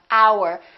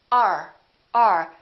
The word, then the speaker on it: our: and just say uh look at this one our we don't say this is our house we say r r this is our house